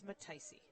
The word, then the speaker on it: Mataisi: We all have been arguing about how to say his name, and we think it's Mataisi. Mataisi?